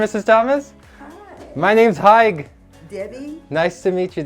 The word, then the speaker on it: Haig: My name's Haig. Debbie. Nice to meet you, Debbie. Hi, what's your Haig. How do you spell it? It's like h a i g. It's saying hi with a g.